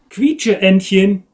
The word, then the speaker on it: Quietscheentchen: How's it pronounced, German me? Quietscheentchen.